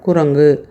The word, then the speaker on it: குரங்கு: கூ என்ற எழுத்து இருக்கு முதல்ல வர அந்த கூ நம்ம வாய் குவிந்து முழுமையாக ஒரு மாத்திரை அளவுக்கு உச்சரிக்க முடியுது ஆனா இறுதியில் வரக்கூடிய அந்த கூ நமக்கு அவ்வளவு முழுமையா உச்சரிக்க முடியல பாருங்க அரை மாத்திரை அளவுக்கு தான் உச்சரிக்கிறோம் குரங்கு அந்த வாய் குவிய மாட்டேங்குது.